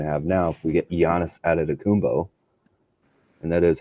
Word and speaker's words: Giannis Antetokounmpo: You wouldn't have wanted to have to stay locked into the same opinion you have now if we get Giannis Antetokounmpo, and that is how you pronounce his name.